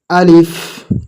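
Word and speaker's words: ألف: আলিফ আলিফ আলিফ। আলিফ হবে না, কি লাস্টে কি হবে? একটু হাওয়া বের হবে মুখ থেকে।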